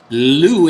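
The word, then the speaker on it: Liu: How do you spell it? L-I-U. L-I-U. Lou in the game, in seat 4.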